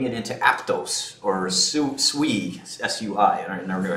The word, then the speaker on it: Sui: Taking cash and putting it into Aptos or Sui, S-U-I, I never knew how to pronounce it, Sui.